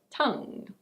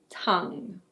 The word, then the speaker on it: tongue: Another part of the body is the tongue. Tongue. It's not "tong". It's: tongue.